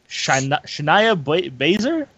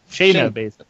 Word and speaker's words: Shayna Baszler: The champion, Ember Moon, defending against Shania Baszler? Shayna. Shayna Baszler.